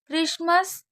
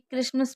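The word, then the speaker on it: Christmas: क्रिसमस, soften और मॉर्ग्रीज, इन शब्दों में भी टी का उच्चारण नहीं होता है। यानी कि जैसे हम आप मान लीजिए क्रिसमस पढ़ रहे हैं, अब आपने देखा यहाँ पर टी साइलेंट है।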